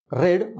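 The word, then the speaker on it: read: पहा आणखी एक उदाहरण, रीड, रेड, रेड, असे तीन रूप आहेत. टू रीड हे इन्फिनिटिव्ह झालं, रीड म्हणजे वाचतो. आता दुसरं जे रूप आहे त्याचं, त्याची स्पेलिंग रीड आहे, मात्र त्याचं वाचन रेड असं करतात.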